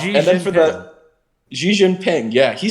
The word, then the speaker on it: Xi Jinping: Xi Jinping, yeah, he said it right.